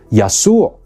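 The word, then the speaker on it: يسوع: name Jesus Through Greek take a look at Arabic which pronounces the name as yasur keeping the final sound so if you speak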